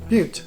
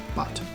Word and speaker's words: Butte: onto the highway again on my way to Butte, Montana. That's how it's pronounced, Butte, not Butte.